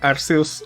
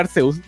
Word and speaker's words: Arceus: de Arceus del anime, tuvieron que cambiarle oficialmente la pronunciación a Arceus, y no Arceus, porque en el Reino Unido, en Inglaterra, de hecho en Europa en general, Ars es como decir as, es como decir poto.